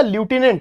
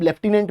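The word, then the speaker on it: lieutenant: Post का नाम है भैया लूटिनेंट जिसे आप लेफ्टिनेंट भी कह देते हो। लूटिनेंट उसकी स्पेलिंग होती है।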